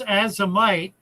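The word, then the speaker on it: Azomite: Oh, it's uh it pronounced azamite an acronym for a toz for the a toz of minerals in in the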